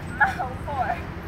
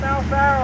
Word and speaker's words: Malfaro: So right now I am going to give this over to Mr. Malfoy. Did I pronounce that right? Good afternoon, friends. Good afternoon, children. My name is Malfaro.